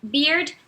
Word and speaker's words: beard: Beard tem a pronúncia muito parecida com a de beer, mas com um D no final.